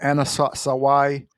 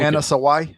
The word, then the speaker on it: Anna Sawai: Anna Sawai is how you say it.